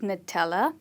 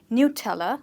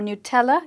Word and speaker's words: Nutella: And that is how we pronounce this word. We do not call it Nutella, but rather we call it Nutella, or Nutella if you go a bit more soft.